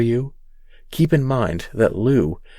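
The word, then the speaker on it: Lugh: If that name doesn't ring any bells for you, keep in mind that Lu is sometimes pronounced Luke, as in the luck of the Irish.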